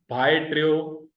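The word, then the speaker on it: ڀائٽيو: पहला हिस्सा भा, दूसरा हिस्सा ए, तीसरा हिस्सा है ट्रियो, टे ये वाव।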